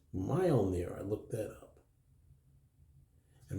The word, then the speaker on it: Mjölnir: Pete over at HCC this guy right here mile near that's how it's pronounced mile near I looked that up and mile near draws